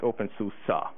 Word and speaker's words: openSUSE: And he said it's pronounced OpenSUSE, which is weird.